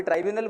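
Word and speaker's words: tribunal: कोई ट्राइब्यूनल बोलते हैं, कोई ट्रिब्यूनल बोलते हैं, दोनों सेम प्रोनाउंसिएशन है, मतलब दोनों का मीनिंग सेम है.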